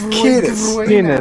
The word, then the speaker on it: Kiedis: It's Kiedis.